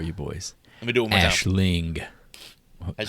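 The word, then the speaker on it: Aisling: her name for you boys let me do Ashling I say as Ashling Ashling franos who in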